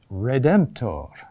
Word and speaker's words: redemptor: Take the word, for example, redemptor. Okay, where's the accent? That's a D there. Huh? It's there.